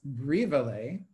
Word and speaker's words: Brivele: Brivele is pronounced Brivele, and it means little letter in Yiddish.